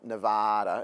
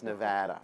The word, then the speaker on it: Nevada: seen all the memes it's not Nevada it's Nevada all right so um but